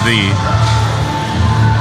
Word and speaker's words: ye: Is it actually pronounced ye? I've heard some people say it. No, it's actually pronounced thee.